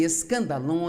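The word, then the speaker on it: σκάνδαλον: palavra ofensa vem de uma palavra grega pronuncia-se escandal e é na verdade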